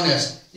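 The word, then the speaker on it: honest: ह नहीं हो रहा, ऑनेस्ट यहां से उच्चारण हो रहा है, ओ से हो रहा है ऑनेस्ट।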